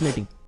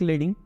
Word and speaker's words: leading: Second one is letting. Now, if you read it, it seems like leading, but in typography, it is spelled as letting.